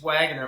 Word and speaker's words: Waggoner: now I'm saying it wrong no it's it's Wagoner my grandpa so it's a it's my family